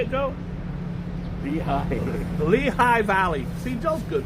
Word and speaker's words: Lehigh: Lehigh.